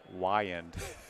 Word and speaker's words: Wiand: What's new for, what's coming up for Wiand?